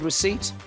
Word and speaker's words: receipt: What consonant is silent in the word receipt? P.